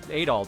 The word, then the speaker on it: Adol: pronounce it adal or do you pronounce it at all cuz I hear both I mean was the the voiceover says adol doesn't it I think think this voice says at all I'm sorry you're right yeah I'll be honest